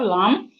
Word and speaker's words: lamb: Then we have lamb. The B in lamb is silent.